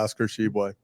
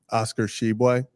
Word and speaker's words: Oscar Tshiebwe: Yeah, Oscar Tshiebwe. And can you say that again? Oscar Tshiebwe.